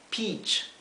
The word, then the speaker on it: peach: Como les mencioné antes, la combinación de letras E, A en inglés se pronuncia I, ¿sí? Por lo tanto esto se pronuncia peach. O sea, la E y la A se pronuncia igual que la doble E, I.